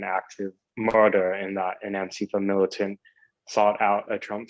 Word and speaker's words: Antifa: So you can pronounce them either way. I say Antifa more in line with the European pronunciation, since the original Antifa started in Europe.